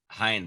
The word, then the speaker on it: Hinde: have oh man how do you say your last name man hind like behind cool hi cool i don't